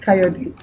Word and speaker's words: Kayode: Kayode. Good. Kayode. Do you say the E at the end of the Kayode? Kayode, yes.